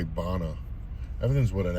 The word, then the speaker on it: Bonneville: How would you pronounce it? Bonneville? We say Bonna.